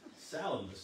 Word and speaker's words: Salamis: But Salamis is the way I read that it was to be pronounced. It's, you know, if you say Salamis, somebody thinks you're talking about a sandwich.